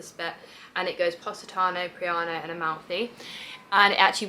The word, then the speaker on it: Praiano: a place called Praiano, I think that's how I pronounce it, but the Italians say it slightly differently. They really didn't understand me. I do talk quickly and they just weren't happy with how I pronounce things, but I want to say it's Praiano.